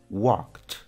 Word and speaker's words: walked: agregamos ed al final, la pronunciación del verbo va a ser igual, pero con un sonido T al final.